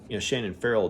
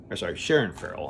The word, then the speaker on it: Sharon Farrell: And so I thought that Shannon Farrell did a good. Shannon Farrell, I thought she did a good job of selling that part. Sharon Farrell, I was saying it wrong.